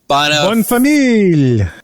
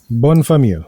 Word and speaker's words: Bonne famille: closed, and called, and once again, here's another pronunciation, Bonne famille. What does it mean? Good family. Good family. Good family. Bonne famille.